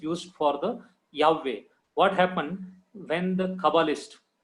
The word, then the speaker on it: Yahweh: letters they combine, and they have given the new pronunciation as Yehovah. That is very wrong pronunciation. You can search anywhere. You can go to Israel and you can ask any Kabbalist. They will give you the proper name as Yahweh only, not Yehovah.